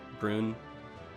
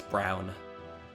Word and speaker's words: Brun: so anyway route 15 I'm gonna mispronounce this bull hon white run brune it's it's brown it's it's brown I mean I listened to the google translate a computer voice say it and it was just